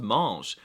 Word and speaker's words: mange: And if I want to say you, he, she, it, or they eat, the verb spelling does change, but they're all still pronounced mange.